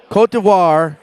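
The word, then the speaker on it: Côte d'Ivoire: correctly I did learn how to correctly pronounce this name last time in Dubai cotevar Cote d'Ivoire is that the correct pronunciation perfect I'm glad I'm learning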